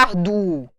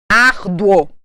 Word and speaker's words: árduo: Lembra que eu disse para vocês que o O, quando é vogal, tem som de O? Árduo. Ninguém fala arduo. Árduo. Olha o som forte.